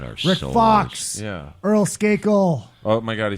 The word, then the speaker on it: Earl Skakel: Earl Skakel.